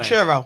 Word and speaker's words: Banchero: Banchero.